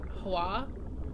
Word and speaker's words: Hoa: This is pronounced, I think, Hoa. H-O-A. It's, I think someone said it was like Indonesian or something.